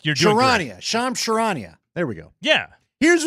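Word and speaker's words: Charania: Sham Shirania.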